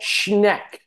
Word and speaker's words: Schneck: but um we would like to introduce Nicole schneck that I might pronouncing that correct yes yes you are all